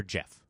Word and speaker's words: Geoff: People think that, but the name's actually pronounced Jeff.